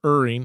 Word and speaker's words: erring: people for maybe ER ering or erring I think is actually how you pronounce it on the side of